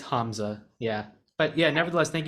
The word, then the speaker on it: Hamza: sorry about that yeah it's you're good it's Hamza yeah but yeah nevertheless thank you so much